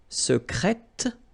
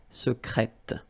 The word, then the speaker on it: secrète: Secret, secrète, secrètement. Okay, so I tend to insist a little bit on it just to make you hear the difference between the masculine. Secret, secrète. Okay, you're pronouncing the T.